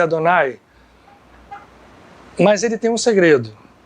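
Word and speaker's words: אֲדֹנָי: O nome de Deus na Kabbalah é representado por 4 letras, esse nome específico, que não se pronuncia ou se pronuncia Adonai.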